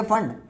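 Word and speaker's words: Pfund: ये फंड है ये फंड पी साइलेंट हियर तो फंड सीरीज आप कहोगे सर फंड में तोफ आता है तो ये पीस साइलेंट है इसलिए क्या बोला जाता है फंड सीरीज तो इनको याद कैसे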